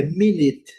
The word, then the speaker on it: minute: É minut. Minute, minut. Sílaba forte. primeira, a letra U com son de I e a letra e não é pronunciada.